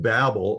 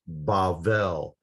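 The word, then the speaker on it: בבל: from and we think babel it's it's kind of an english word that means uh confused speech but that's where that idea comes from in hebrew it's pronounced bavel because um bavel is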